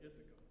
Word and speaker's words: Ithaca: Not Ithaca, but Ithaca. Yeah, Ithaca, New York, right at the bottom of the Finger Lakes in New York.